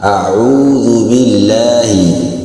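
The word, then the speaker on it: أعوذ بالله: itu sudah sadar ya pengucapannya yang benar adalah audzubillahi bukan Fauzul alam itu di seperti ini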